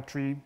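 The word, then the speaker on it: trie: But basically, the trick is you create this try path. And try, I think it's pronounced try or tree, but T-R-I-E, not E-E.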